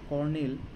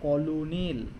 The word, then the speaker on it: colonel: কর্নেল বানানটা হচ্ছে অদ্ভুত, উচ্চারণ হচ্ছে কর্নেল কিন্তু স্পেলিং হচ্ছে কলোনেল, COLONEL। এইভাবে মনে রাখতে হবে, কলোনেল কিন্তু উচ্চারণ হবে কর্নেল।